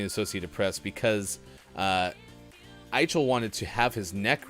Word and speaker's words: Eichel: Jack Eichel, I believe, is the correct pronunciation of the former Buffalo Sabres captain.